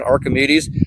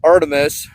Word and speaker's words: Artemis: I keep saying Archimedes, but it's the Artemis from 8 Advanced Optic.